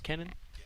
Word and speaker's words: Cunin: Did you get pronunciation that it was Kennan? All right, well, there we go. I shouldn't have doubted you. All right. Ignore the U.